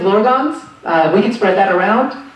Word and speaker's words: Blorgons: First of all, we should officially fix that pronunciation. It is Blorgons.